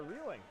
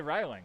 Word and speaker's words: Reeling: Most people say Riling, so I appreciate you pronouncing it correctly.